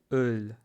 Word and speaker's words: Öl: Может быть, губы как у рыбки, но они не делают круг.